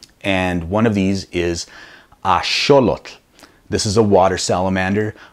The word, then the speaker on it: axolotl: people hit me up online with how to pronounce correctly and one of these is a sure look this is a water salamander a lot of people mispronounce it is axolotl and again you know I'm not gonna fault